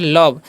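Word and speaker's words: love: तो आगे लिखा हुआ है LOV, तो इसे हम क्या पढ़ते हैं, इसे पढ़ते हैं लव। इसे लोभ नहीं पढ़ना है।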